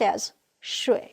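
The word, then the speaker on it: 水: Chinese character means water it is pronounced s-sure 8 and now let's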